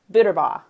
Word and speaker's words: Buterbaugh: But it was all about, the art of a great phone conversation, which brings me to our very special guest today, Steven Buterbaugh.